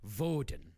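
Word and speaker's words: Wodan: you want to freeze your enemy except it's pronounced vodan yeah in the German way but that's some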